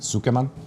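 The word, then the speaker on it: つけ麺: And this is a tsukemen noodle. This style of ramen, how do you pronounce it? Tsukeman?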